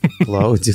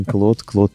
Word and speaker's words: Claude: Клауди? Мы же не говорим Клауди, да, теперь мы говорим Claude 3.